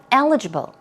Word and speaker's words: eligible: Stress goes right there on the first syllable, eligible.